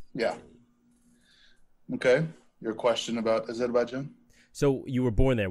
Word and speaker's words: Azerbaijan: Originally, I am from Baku, Azerbaijan, which is where I was born.